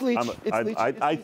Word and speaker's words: Leitch: It's Leitch. I said Leitch. I almost said Leitch because that's how it's spelled. Yes. No, I'm now hugging my pillow. The Leitches are famous for the refutations of traditional I before E rules.